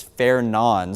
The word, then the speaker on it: Fernand: I've been doing some digging and watching other meteorologists and National Weather Service employees pronounce it is Fair Nan. So obviously it looks like Fernand the D is silent.